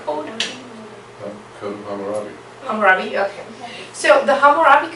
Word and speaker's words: Hammurabi: say this in English, but is this a Hammurabi Code? Code of Hammurabi.